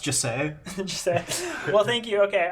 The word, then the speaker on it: Jesse: It's pronounced Jesse.